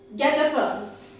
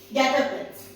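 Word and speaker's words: guet-apens: Coming to the year 2012, the word is Getapans. Getapans. And how will you pronounce it?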